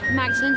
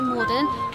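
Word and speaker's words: Magdalene: We'd like to maybe pronounce it as Magdalen, but we pronounce it Morden. Why is that, you may ask? Well, I think I have the answer. It turns out that the Normans carried over the silent G when they conquered us in 1066.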